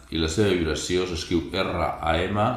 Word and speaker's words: Ram: Connectes amb el tercer centre d'energia, Manipura Chakra, element foc, la generositat, i la seva vibració s'escriu R-A-M, la R es pronuncia com una R sorda, 3 vegades, RAM, mentalment, RAM, RAM, mentalment.